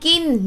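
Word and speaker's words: กิน: say kin with k sound but it's actually g sound g sound and gin means to to eat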